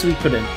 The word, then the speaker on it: Suikoden: By the way, it's pronounced Suikoden.